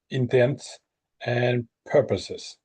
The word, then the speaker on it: intents and purposes: For all intents, intents and purposes.